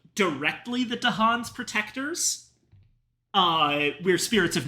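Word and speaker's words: Dahan: Um, and we have lived for ages with the native people of the island, the Dhan, which apparently the fact that Dhan is pronounced sort of like katan is a complete coincidence.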